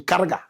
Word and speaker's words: Karaga: You say Karaga. Correct pronunciation. Karaga. Kaga.